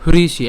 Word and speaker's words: হৃষিকেশং: এরপরে হৃষিকেশং, আমি এর আগে বলেছিলাম এই ধরনের এই যে হ্রি এই উচ্চারণটা করার জন্য আমরা যদি ইংলিশে যদি HRI উচ্চারণ করি এবং বাকি অংশটুকু যদি উচ্চারণ করি তাহলে উচ্চারণ করতে সুবিধা হবে। তাহলে হৃষি, ঠিক আছে, হৃষি হৃষি একদম শুদ্ধভাবে উচ্চারণটি আসবে এভাবে যদি উচ্চারণ করেন হৃষি।